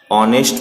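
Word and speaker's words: honest: दूसरा है ऑनेस्ट में एच साइलेंट है, तो ये भी आंसर नहीं होगा।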